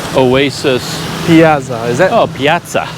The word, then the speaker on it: piazza: oh Piazza Piazza yeah it's Italian right yeah and then the question do you say within England even in English I think we would say Piazza yeah because there is no English way to pronounce two Zeds together so I think you have to do the Italian thing but this place is